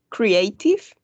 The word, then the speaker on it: creative: This one is going to be pronounced creative, like an E, right?